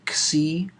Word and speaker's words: Xi: squiggly squiggle number uh is called cie uh it's spelled XI it's probably the hardest